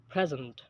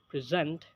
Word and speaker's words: present: particular syel for example there is stress on the first syllable in the word present when it's a noun and a stress on the second syllable in the same word present when it's a verb and number five intonation